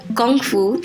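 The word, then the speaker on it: gongfu: in a traditional lineage-based Kung Fu or gongu the correct pronunciation and it was this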